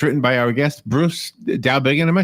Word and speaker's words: Dowbiggin: Actually, it's Dowbiggin, but that's okay. Dowbiggin. I let people take a shot, whichever way, but Dowbiggin is the way I pronounce it.